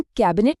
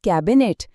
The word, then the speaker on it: कैबिनेट: हम कैबिनेट नहीं कहते। हम कहते हैं कैबिनेट। सैनिक नहीं सैनिक। इसी तरह त्यौहार में ओ की ध्वनि है।